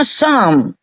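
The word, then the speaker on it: Psalm: kan gini tuh eh som tapi p enggak boleh dibaca S yang lain boleh dibaca yang ini harus dielete tapi tetap ditulis bacanya Sam kalau ditambah Mon di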